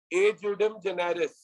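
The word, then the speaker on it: ejusdem generis: छठा रूल है ए जुडिम जेनेरिस। छठा रूल है ए जुडिम जेनेरिस। छठा रूल है ए, ई नहीं है, ए है, ये पढ़ा ए जाएगा, ए जू, एस साइलेंट है, ए जुडिम जेनेरिस, ए जुडिम जेनेरिस।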